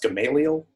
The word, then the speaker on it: Gamaliel: this fair city certainly has a middle name pronounced Gamaliel it seems right word right yeah Gama Leal Thomas Woodrow Wilson Wayne Howard Taft oh hi